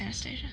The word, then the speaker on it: Anastasia: one of the Anastasia, she Anastasia. not it's Anastasia. Oh. They're English. They don't know how to pronounce things.